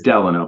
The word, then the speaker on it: Delano: And it is Delano, by the way. If any of you are historians or history buffs, the President Franklin Delano Roosevelt, that is the correct pronunciation. So, Delano.